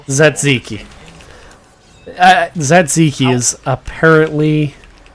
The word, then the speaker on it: Tzatziki: small Tzatziki is apparently how you pronounce it.